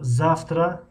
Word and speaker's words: завтра: خب завтра فردا. خب اینجا یک معلومات دیگر که همین حرفی و بعدش اگر ت اومد همیشه ف تلفظ می شود.